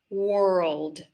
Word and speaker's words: world: So if we say it really slowly, world world. So you do have to make sure to get the L sound in there so that it doesn't sound like word.